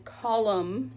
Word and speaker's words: column: at the end of the word so it's column you don't pronounce the end we could say it's a